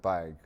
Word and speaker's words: Baig: Baig. Did I pronounce that correctly, Yes.